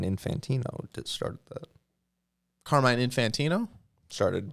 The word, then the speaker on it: Infantino: that Carmine Carmine Santino Infantino car car like car and then mine like mine then infant with an O at the end Infantino flash here we go